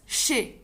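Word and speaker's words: chez: she as you see the writing is really different than the pronunciation the pronunciation is just shi the final zed the final z is silent okay so shay lavo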